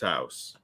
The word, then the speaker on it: Haas: uh he called himself Bill house oh that says Haas that's pronounced house says Haas fair enough